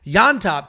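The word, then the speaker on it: Llontop: we have James yop and that is how you pronounce it with a Y yop taking on Chris Padilla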